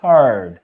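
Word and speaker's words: heard: হারড। এটার ভিটু হিয়ারড বল তোমরা অনেকে। কিন্তু এটা উচ্চারণ হিয়ারড না।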